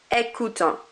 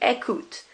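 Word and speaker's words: écoutent: they, il or elle, you do not pronounce that ENT on the end. It's kind of like it isn't there. So instead of écoutant, it will be écoute. And instead of téléchargeant, it would be télécharge. It's like that ENT is not there. Do not pronounce it.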